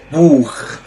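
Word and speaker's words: Buch: اللي معانا بعد كده بوخ بوخ يعني كتابه معانا هنا مقطع السي اتش بس قبل حرف بتنطق خ الكلمه اللي معانا بعد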